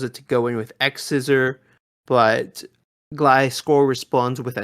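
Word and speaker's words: X-Scissor: Yes, and first of all, it's officially named X Scissor? Yes. Okay. See, I've been saying it wrong. I've been saying Cross Scissor. Because you know how like sometimes X is cross.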